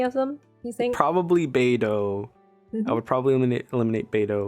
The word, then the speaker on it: Beidou: Beidou.